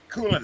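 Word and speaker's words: Kulynycz: that was polish and his last name was cool in it and it was spelled k-u-l-y-n-y-c-z oh well pronounced coolin so i sort of learned how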